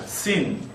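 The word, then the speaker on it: שׂין: sin sin 왼쪽에 점이 있다는 거 기억하시고 아까 사맥하고 같은 발음이라고 생각하시면 되겠습니다. 시 발음이죠.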